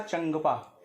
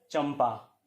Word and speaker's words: चंपा: उसका उच्चारण करेंगे तो आपको इसका उच्चारण करना पड़ेगा चंदपा जो कि अशुद्ध और पॉवर है पास जिस वर्ग में आता है उसका पंचमाक्षर मां होता है जो इस रूप में आपको दिख रहा है इसलिए इस का सही उच्चारण होगा चंपा ठीक है यहीं चीज